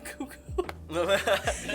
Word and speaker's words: KooK0w0: probably be like, you know what, yeah, I'm KooK0w0.